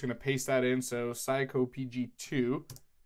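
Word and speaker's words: psycopg: need a pip install psycho PG - I believe that's how it's pronounced and this is a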